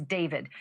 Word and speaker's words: D4VD: That fact has got to be hitting home tonight, literally, for the singer known professionally as David, spelled D4VD. I know it's strange, but it's pronounced David.